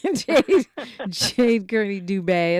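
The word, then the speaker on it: Dubé: dub dubet okay I need that little Accent on the E Jade Jade Cy Dubay it's nice to meet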